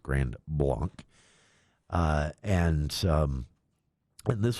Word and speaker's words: Grand Blanc: In Michigan they might say blank, I don't know, but it technically should be pronounced Grand Blanc.